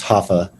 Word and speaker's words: Rafa: named him raphael and they pronounced their r's with like an h so it would be rafael and jordan is just hoffa but they would spell